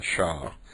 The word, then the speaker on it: SHA: to just mention the SHA algorithms of the shop that's what it's usually pronounced if you're interested in taking